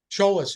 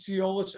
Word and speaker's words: Tsiolis: of people pronounce it seis I I call it CH I pronounce it trollis like a CH instead of a TS I should know that